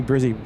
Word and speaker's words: Brizzy: Mark G saying is it Brizzy or Brissy? Uh definitely Brizzy with two Zs.